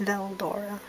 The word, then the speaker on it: Veldora: would spell that because there is no l in the japanese alphabet but it's pronounced veldora in english so it's like it's